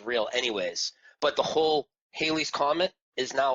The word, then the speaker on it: Halley's: anyways but the whole Halley's Comet is now always been Halley's Comet with a short a so it's H al l ey now and also daylight